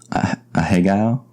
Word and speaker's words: ahegao: A hegao? I guess that sounds actually pretty good. A hegao. It's spelled Ahegao.